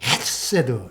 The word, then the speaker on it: 헤세드: 장세호가 아닌데 어쨌든 그분이 이 헤세드를 헤세드 이렇게 발음하던데요. 거의 가래침이 나올 정도로 좀 헤세드가 아니고 헤세드 이렇게 발음하시던데요.